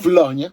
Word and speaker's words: Paulownia: Quando io non so le lingue, quindi io non so le pronunce. Si dice Paulonia, a parte le battute, gli scherzi fra me e lei, 91 euro.